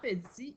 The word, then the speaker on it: petit: Donc, dans petit, il y a un T parce qu'au féminin, ça fait petite.